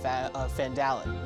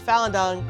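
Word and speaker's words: Phandelver: and proceed on the lost mine of fandallen not fallen down because over the first time I learned how to say it so lost mine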